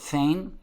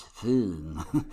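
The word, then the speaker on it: Föhn: Some people pronounce it Foehn, but actually the right way to pronounce it is Foehn, like you're German. Foehn. It's a German word.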